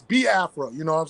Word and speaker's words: Biafra: say accent is like I get tongue tied and I say bafa so it's ba afraa you know what I'm